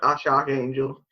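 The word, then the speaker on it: X Æ A-Xii: Yeah, and that's pronounced Ash Archangel.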